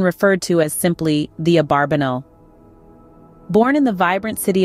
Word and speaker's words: Abarbanel: named Judah Abravanel lived the pronunciation of abravanel's surname has been a subject of debate while the traditional pronunciation is abarbanel modern academic literature has more commonly used Abravanel his own son Judah insisted on abarbanel and Elias LV a close contemporary twice advocated for the name abarbanel the etymology of the